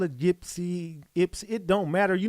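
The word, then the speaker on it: Ypsilanti: she is in in yilani the Y is pronounced like an I I call it yipsy IPS it don't matter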